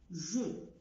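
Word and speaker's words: je: اكزامبل جو، جو ما قلتش ج.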